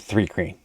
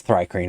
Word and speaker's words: thri-kreen: And then we've got the Thrycreen, which See, I always pronounced it 3 crane. But I can see why it's Thri-Kreen, I guess.